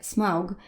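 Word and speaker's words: Smaug: z tego co doczytałam SM czyta się właśnie smug co jest bardzo nie angielskie a bardzo germańskie au zawsze po angielsku czytamy o a sama końcówka aug jest powszechna właśnie dla języka niemieckiego by ogólnie kozakiem jeś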